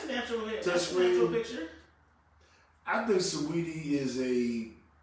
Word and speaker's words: Saweetie: Okay, I would rate Beyonce higher than Saweetie, but I'm sporting Saweetie. Okay. Why am I calling her Saweetie? That's how it's spelled, but it's really Sweetie.